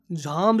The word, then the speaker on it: Jhamb: Jam is my surname, the JHAMB. Yeah. Okay. Jam is like when two people sit and Have jam.